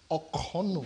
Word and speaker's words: Okono: First and foremost, let me quickly just correct the pronunciation of my name. Okay, my name is Okono. Okono. Yes, okay. Okono. So okay. That's the correct pronunciation.